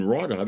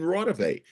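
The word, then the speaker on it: Raudive: It's not Konstantin Rodov, it's Konstantin Rodove.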